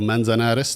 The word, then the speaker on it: Manzanares: they invited us all to this town called Manzanares. Did I pronounce that correctly?